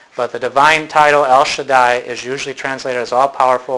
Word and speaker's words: Shaddai: be your s sound if you have a DOT between the second and third it would be sh like an sh sound okay the Hebrew letter